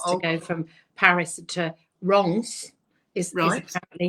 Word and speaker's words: Reims: get our tickets to go from Paris to Reims.